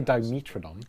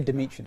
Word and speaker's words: Dimetrodon: name because i think you say dimetrodon i say dimitri yeah and i say dimetrodise and i'm wondering i